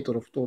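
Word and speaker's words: 択捉島: しゃ詳しいですね尺足頭で択捉島と読みますそして一番東にある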